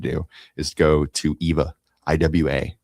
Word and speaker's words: IWA: do is go to IWA. They don't pronounce W's. They pronounce them like V's in Germany. That's what it's called, IWA.